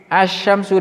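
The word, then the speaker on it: الشمس: Ya, kita membacanya lamnya tidak kita baca jelas, langsung at-tajiru, ats-tsaubu, ad-diku, az-zahabu, ar-rajulu, az-zahratu, as-samaku, asy-syamsu, dan seterusnya sampai 14. Lamnya tidak dibaca jelas, atau lamnya tidak dibaca sama sekali juga boleh.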